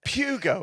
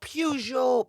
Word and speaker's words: Peugeot: Pugo. Is that what? No. Pujo. Pujo. Pug. Pujo. It's the proper uh French pronunciation.